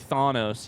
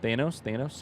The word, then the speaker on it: Thanos: If you could like Thanos, yes, I know I said it wrong. Thanos.